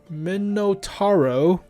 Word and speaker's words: Minotauro: oh there you go folks the smv cc 64 the vipira so we got a vipera we got a minotaur minotauro as they pronounce it menotaro all right i mean